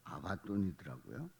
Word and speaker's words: 아바돈: 왕이 있으니 무저갱의 사자라 히브리어로는 그 이름이 아바돈이 아바돈이 어 히브리어로 어 더 정확한 발음은 아바돈이 근데 그 아바돈 파괴자